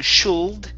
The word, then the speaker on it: should: In this word, the L is silent, so instead of saying should, it's should. Should.